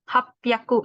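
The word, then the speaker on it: 八百: Nah, ada juga hyakunya jadi pyaku gitu. Rop pyaku, hap pyaku. Itu 600 sama 800. Sedikit berbeda.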